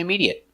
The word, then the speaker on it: immediate: but are never verbs so they're always pronounced with the it short it sound like private certificate chocolate corporate and immediate let's take a closer